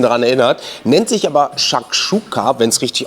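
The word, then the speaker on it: Shakshuka: so ein bisschen daran erinnert nennt sich aber shakchuka wenn es richtig ausgesprochen ist genauer gesagt shakchuka sizilia gebackene Eier in Tomatensoße mit Mozzarella und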